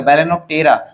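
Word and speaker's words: Balaenoptera: next है बेलन ऑफ टेरा बेलन ऑफ टेरा प्रोनाउंस एशन ध्यान दीजिएगा बेलेन ऑ टेरा बेलेन ऑ टेरा को ब्लू बेल बोलते हैं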